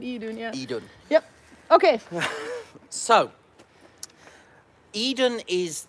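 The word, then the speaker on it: Iðunn: say for anyone curious It's spelled e dude yeah i d u n n not I Dune but e Dunya yep okay so Eden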